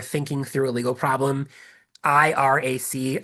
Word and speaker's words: IRAC: IRAC, IRAC. It's not like a bad American pronunciation of the country.